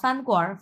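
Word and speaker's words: 饭馆儿: হ্যাঁ, চঙ্গুয়া ফানকোয়ার, এটাকে প্রথমে বলে কোয়ান, এরপরে আর, কিন্তু উচ্চারণ হবে কোয়ার।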